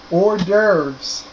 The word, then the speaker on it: hors d'oeuvres: this next one is actually really hard to look at but it's actually very easy to pronounce hors d'oeuvres which are small appetizers